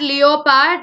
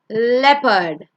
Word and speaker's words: leopard: It's not leopard, it's leopard.